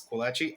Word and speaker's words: Squalachi: I know people don't pronounce this as it's supposed to be pronounced because this is an Italian word. It's Squalachi.